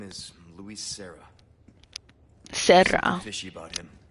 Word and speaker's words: Serra: Serra. Fishy about him. Roll your R's, Leon.